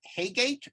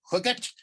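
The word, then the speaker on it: Heygate: Peter Maltravers, based on, I always pronounced it Haygate, but I saw an interview with AP where he pronounced it something like Hooget. I'm not going to carry off Hooget. So I'm just going to say Haygate.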